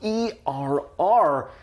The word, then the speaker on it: err: And by the way, for our English learners out there, the word err in this case is spelled e r r, but pronounced err like a i r.